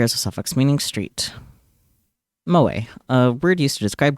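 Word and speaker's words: moe: pronounce moa.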